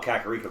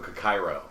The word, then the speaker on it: Kakariko: for now right right i used to call kakariko cacairo because i wasn't actually reading it all the way through sure yeah you get